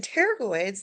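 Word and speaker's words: pterygoid: temples are and then teroid the p is silent okay teroid uh we're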